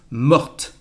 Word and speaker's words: morte: Mort with a T, we don't pronounce it, it is the masculine form. The feminine form, we add an E and the pronunciation is morte. Mort, morte.